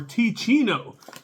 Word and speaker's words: Teeccino: let's get on with this coffee review for T Chino and let me show you this so you can know how to spell it t e e c i n t